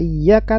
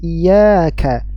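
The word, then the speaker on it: إياك: jelas lahan Jali nah membaca huruf ya yang pertama pada kata iyaka tanpa tasdid iaka iaka iyaka Nah jadi ada yang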